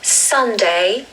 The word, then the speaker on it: Sunday: So we stress the first syllable, which is sun. So Sunday. And this is probably the easiest day of the week to pronounce. Just the word sun and day.